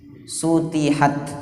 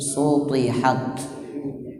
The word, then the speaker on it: سطحت: وإلى الأرض كيف سطحت Hati-hati huruf ta jangan dibaca ta. Kalau dibaca ta bunyinya tipis. Sutihat, suti itu berarti ta. Yang ini huruf ta, jadi cara bacanya tebal. Sutihat.